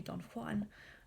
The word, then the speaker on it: Don Juan: I'm specifically pronouncing it Don Juan. Obviously, the kind of a more correct pronunciation would be Don Juan, but Byron plays with